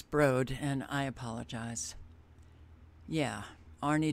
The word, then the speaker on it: Broad: served on the board of directors of the Broods education division and I'm going to put you on hold because I want to find out the exact pronunciation of that hang on okay it's Broad and I apologize yeah Arie Duncan board of